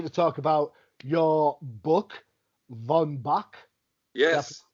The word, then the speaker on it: Von Bach: out in that question did i pronounce correct that is correct some people love to be particularly prussian but von bach is is uh what people say excellent excellent so for